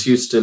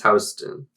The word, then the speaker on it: Houston: it is yeah it is and it's not pronounced Houston it's Houston yeah I live in Houston I live in